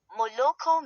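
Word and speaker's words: молоко: Stress can fall on any syllable and is not fixed, e.g., moloko milk, stress on the last syllable.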